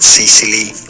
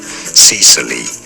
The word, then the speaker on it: Sicily: Yes, the middle right? sound is a schwa sound, so it's not Sicily generally in English, but rather Sicily. Stress on the first syllable.